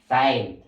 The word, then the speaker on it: time: Kaya kung tangtangon ni mo si letter E, sa pagbasa niya, team na lang siya, team. Pero kung magdagdagan sa E, letter E din is silent siya class. Therefore, ang pagbasa niyo siya kay time.